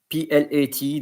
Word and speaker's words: plat: Because if you are pronouncing plat, it's as if there is an E behind the T. But here there is no E, so the T is silent.